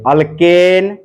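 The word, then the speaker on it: alkane: ठीक है, स्पेलिंग पे, उच्चारण पे ध्यान दीजिए। अल्केन, पहले एन बोल रहा हूं, फिर इन, ए बोला पहले ए, फिर ई, फिर आई।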